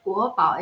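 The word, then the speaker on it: 国保: So national treasure, and the pronunciation in Chinese is guobao, and also the national security guards or national security police is also called guobao. It's a land bao, it's bao wei security. So panda and security police, the Chinese pronunciation is exactly the same, guobao.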